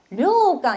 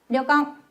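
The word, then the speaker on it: 旅館: 그래서 류강 이렇게 끌지 않고 째게 타이트하게 발음하기 때문에 같이 해보도록 할게요. 갑니다. 려깡.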